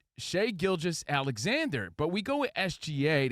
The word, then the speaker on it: Shai Gilgeous-Alexander: IS IT SHAY? Is it Shai? Is it Gilgeous? What's it Gilgeous? It's Shai Gilgeous-Alexander.